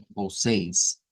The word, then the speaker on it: vocês: sí, lo que hay que destacar quizás de esta es esta E con el circunflejo, con el apóstrofe circunflejo, lo que esta E se traduce, digamos, al IPA o el alfabeto fonético internacional es pronunciarla como A.